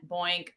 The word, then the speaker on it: Boykan: more in alignment with how people pronounce my name. So I have always been B. Boykan, Boink, it's Boink.